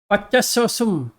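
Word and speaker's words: पच्चस्सोसुं: ये पच्चसो, कैसे, ये कैसे प्रोनाउंसिएशन कैसे करना है ये? पच्चसोसुम। पच्चसोसुम। हम्म। ओके। हाँ। अच्छा, इसमें भी मुझे लगता है ये थेरवड़न लोग ये सुंग बोलते हैं, ये श्रीलंकन का सुम है शायद, ऐसा वो दोनों नहीं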